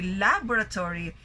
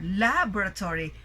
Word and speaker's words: laboratory: So, when we say laboratory, the stress is in the first syllable. So our voice will be rising in that particular syllable. And you notice that the volume of our voice is also louder, laboratory, while the rest of the syllables, you don't really give emphasis on them.